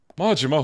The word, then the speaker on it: Majima: maima I wonder do you think anyone actually pronounced his name as maima oh dude you don't get it it's maima majima who's that right this is the part where